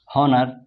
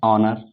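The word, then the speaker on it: honor: हॉनर, हॉनर नहीं इसको क्या बोलते हैं, ऑनर।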